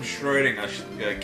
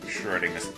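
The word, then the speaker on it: Schrödinger: And yes, that's actually how you're pronouncing Schrodinger's name, yes. It's not Schrodinger. I speak German, so I can correct all of you.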